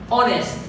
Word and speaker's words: honest: honest، honor، why، w وواي فقط.